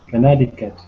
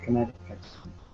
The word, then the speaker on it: Connecticut: And how you pronounce Connecticut? Connecticut? Connecticut. Sorry, Connecticut. Connecticut. Connecticut.